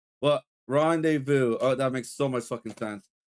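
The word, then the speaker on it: rendezvous: The Z and S is Oh, no. Rendez Vu, they're silent.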